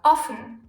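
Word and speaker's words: offen: O is long orphan if we add another F to it the O suddenly becomes short and we have often so the difference of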